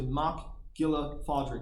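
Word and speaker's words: Mac Giolla Phádraig: name is Fitzpatrick but in Irish it's actually MCH Gilla fadri and people are sometimes thrown by the spelling but that's how you say it it's named for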